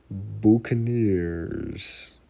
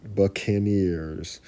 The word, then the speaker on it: Buccaneers: team we have the cursed baners I'm pretty sure I'm pronouncing that wrong cursed Buck Buccaneers all right you know what hold on give me a second what is that word Buccaneers Buccaneers Buccaneers all right thank you for Google translate with that pronunciation cursed Buccaneers this team